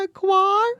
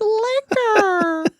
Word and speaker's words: liquor: And she's like, it's no liqueur, it's liquor. We sounded it out phonetically.